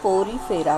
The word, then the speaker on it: Porifera: पोरीफेरा को ही दूसरा नाम कहा गया है स्पॉन्जेस, जो कि पोरीफेरा, उसका राइट प्रोनाउंसिएशन है पोरीफेरा।